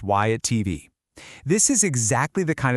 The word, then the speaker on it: WhyItTV: This is why at TV, and yep, it's pronounced Y at TV.